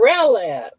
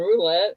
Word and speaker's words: Rowlett: And, Oh, you're talking about Rowlett. Rowlett, okay. L-O-W, Rowlett. Okay, I pronounced it wrong. I never would have found roulette. I was looking for a roulette wheel.